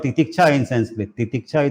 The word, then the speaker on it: Titiksha: Titiksha is a term in Sanskrit which means spiritual endurance. Titiksha. In English, we can spell it as Titikasha.